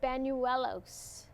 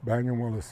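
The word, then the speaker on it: Bañuelos: We used to pronounce it Banuelos. Banuelos? Banuelos. Oh. You have that little deal on top yes. of the end? That's yeah. Okay, okay. You say Banuelos? No, Banuelos. Yellows.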